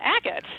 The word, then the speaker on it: agate: in the book yeah it's the 10th gem a gate how do you say it again Oh agate agate uh-huh what does that do for you